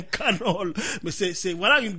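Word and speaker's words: McConnell: ça c'est Mitch McDonald CONEL CONEL pas Donel mais c'est conal comment tu prononces canol canol on prononçant comme les américains canol mais c'est c'est voilà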